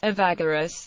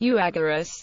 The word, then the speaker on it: Evagoras: The speaking as Evagoras reflects modern Greek pronunciation, while the spelling as Euagoras is a direct transliteration of the Greek alphabet letters, and reflects ancient Greek pronunciation.